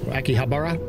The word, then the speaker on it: Akihabara: Akihabara is how you say it.